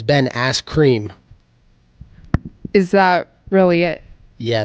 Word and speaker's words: Ben Askren: Oh, you said his name backwards. You said it wrong. It's Ben Askren.